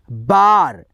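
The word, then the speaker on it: bar: जब दो कॉन्सोनेंट के बीच में क्या आए, ए आए, तो यहाँ पे आपको दूसरे नियम क्या कहता है, आ का उच्चारण करना होता है।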